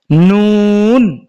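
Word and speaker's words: ن: তো এই হরফের নাম হচ্ছে নুন। নুন। আমাদের নোয়াখালীর ভাষায় লবণকে নুন বলে। হ্যাঁ, ওই নুন আর এই নুন একই। নুন উচ্চারণ আর এই নুন কোরআনের হরফ যে নুন একই।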